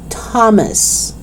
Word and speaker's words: Thomas: t thailand thai time thomas okay so it's not thailand five time thomas no it's not like that it's just the letter t the sound of t okay let's do it